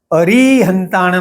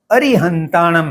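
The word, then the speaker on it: अरिहंताणं: और अरिहंताणम इस शब्द को उच्चारण करते हुए कुछ लोग री की दीर्घ उच्चारण की आदत में रहते हैं। अरिहंताणम नहीं होते हुए यह अरिहंताणम है। अ और री एक साथ जल्दी में बोले जाते हैं क्योंकि र में छोटी ई की मात्रा है।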